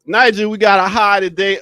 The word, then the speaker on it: Niger: Niger is like a word spelled without a G, an extra G. Yeah, you take that G out and you got Niger. So, Niger, we got a high today of 77 degrees.